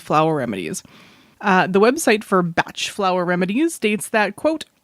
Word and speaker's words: Bach: Bach Flower Remedies where apparently the preferred pronunciation is batch Flower Remedies but it is spelled